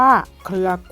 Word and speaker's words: เครือ: ไป ค่ะ นัก เรียน ตัว คอควาย กับ ตัว รอ เรือ นะ คะ อ่าน รวม กัน จะ อ่าน ได้ ว่า เครือ กล้วย นะ คะ อ่ะ ต่อ